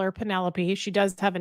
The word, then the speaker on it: Penelope: Penelope pronounced like antelope? No. Penelope.